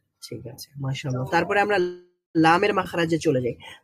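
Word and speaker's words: لام: আচ্ছা, লাম এটা কোথায় কিভাবে উচ্চারিত হবে? When the front of the tongue touch the gums of top front teeth from দাওয়াহিক টু সানাইয়া। দাওয়াহিক two Sanaya.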